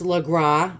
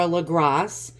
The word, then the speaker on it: Legras: I believe it's pronounced Legras. I think the S is silent, or Legras.